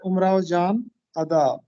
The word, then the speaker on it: امراؤ جان ادا: سب سے زیادہ مقبولیت امراؤ جان ادا کو ملی. یہ درست تلفظ ہے، امراؤ جان ادا.